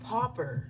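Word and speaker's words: pauper: What is a popper? Spirit just says popper. I believe it's spelled P A U P E R.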